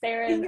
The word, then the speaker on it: Saren: I am so sorry, but Saren rhymes with Karen.